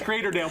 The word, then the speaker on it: Creatordale: to be like El we need you to tell Joe that it's crater Dale but you already you